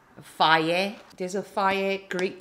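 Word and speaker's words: Fage: It's not fudge or phage. It's called faye. You see, it's pronounced faye.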